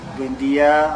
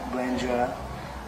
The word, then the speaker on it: Buendia: It's uh I like Buendia. I don't like Buendja. Um, it's always been the way uh my family at least pronounced our surname.